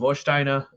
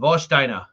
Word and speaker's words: Warsteiner: a german beer called vostina um that's how you know i've been working at german club too long it's called it's spelled warsteiner but i'm working there doing trivia it's called vostina versteiner yeah something give